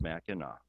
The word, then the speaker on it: Mackinac: They would spell it with the AC, but it's pronounced Mackinac.